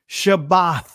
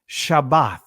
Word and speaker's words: Shabbat: It says Shabbat, not Sabbath, Shabbat. That is the actual pronunciation, Shabbat.